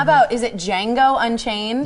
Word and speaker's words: Django: how about is it django unchained the d is silent this is the new